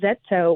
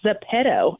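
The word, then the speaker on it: ZEPETO: Um was crying on the internet expressing how dangerous this app called Zetto. Well, I've come to find out I'm pronouncing it wrong. It's zapedto actually.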